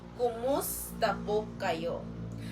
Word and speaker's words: kumusta po kayo: good in polite version kumusta po kayo the pronunciation of this kumusta po kayo repeat after mea po kayo again kayo excellent